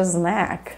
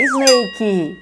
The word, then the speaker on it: snack: she is such a Snack e Gente pelo amor de Deus pelo amor do meu filho que eu já tenho não é Snake tá cuidado com a pronúncia independente do significado Snake